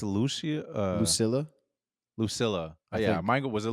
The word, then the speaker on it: Lucilla: Lucilla.